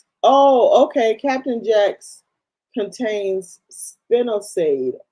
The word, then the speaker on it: spinosad: Captain Jack's contains spinosade. How do you say it? Spinoside.